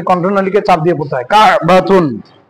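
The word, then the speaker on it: كعبة: যদিও বা এইরকম হয় কায় বাতুন, কিন্তু আমাদের আরবি উচ্চারণ করতে গেলে আমাদের কায় বাতুন হবে না, কা বাতুন।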